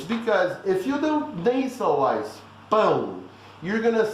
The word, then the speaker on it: pão: Just remember, pão is nothing but pound without the ND. So everybody, pão.